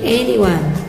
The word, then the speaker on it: anyone: Ini dibacanya bukan enyon ya, tapi anyone artinya siapapun. Ingat, anyone bukan enyon, salah kalau enyon.